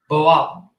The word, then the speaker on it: Boal: How do you pronounce his last name? Boal.